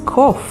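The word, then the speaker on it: קוף: It is kof, and it means monkey. It's spelled with Kuf, Vav, Pe sofit.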